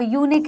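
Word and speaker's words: unique: यूनिट के अलावा यूनिक है।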